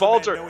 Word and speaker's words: Walter: It's pronounced Walter.